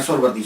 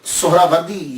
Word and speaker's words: سہراوردی: بڑی توجہ دینی ہے۔ ہم لوگ اکثر بول دیتے ہیں سہروردی، سہروردی، یہ اکثر ہم بولتے رہتے ہیں۔ میں غلط نہیں کہتا، لیکن ذہن میں یہ تو ہونا چاہیے نا کہ اصل پروننسیشن، اصل تلفظ کیا ہے۔ اصل میں یہ سہراوردی یا تو نسبتی ہے، تو لفظ جو ہے وہ سہراورد ہے، سہراورد، سین کے اوپر